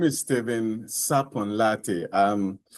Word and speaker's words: Sarpong Lartey: So, my name is Steven Sapon Latte. Um, it's fine if you don't It's very fine if you don't get a pronunciation very right.